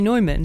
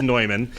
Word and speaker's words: Neumann: People mispronounce it. It is actually Neumann. He was from German origin, and the proper pronunciation is Bohemia. Mr. Walsh. You're right. You're absolutely right. The proper pronunciation is Neumann, but we here in